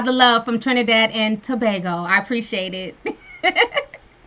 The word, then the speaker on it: Tobago: and we were like it's not tobacco it's Tobago y'all not be butchering stuff